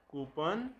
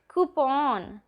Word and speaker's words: coupon: सिनोनियम, synonym, synonym, एंटोनियम, एंटोनिम, एंटोनिम, ऑफ्टन, ऑफन, ऑफन, data, data, data, pronunciation, pronunciation, pronunciation, अवर, R, एंड, aunt, aunt, almond, almond, almond, कूपन, coupon, coupon, schedule, schedule, schedule, poem, poem, poem, mischievous,